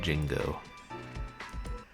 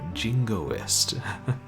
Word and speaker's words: jingoist: general but the uh the actress kept pronouncing it Jin go and she would say shallow jino and we'd be like no no no jingoist that was funny yeah